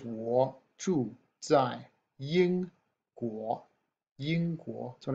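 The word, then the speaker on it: 在: be located alright that's the character and it's pronounced die this is the word you say when we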